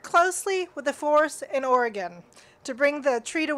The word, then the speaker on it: Oregon: Oregon, everybody's got that pronunciation.